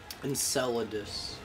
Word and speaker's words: Enceladus: How do you pronounce that, actually? Enceladus.